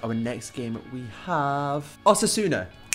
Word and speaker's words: Osasuna: lately right so our next game we have Auto sooner pronounced it right that time definitely advise players leaving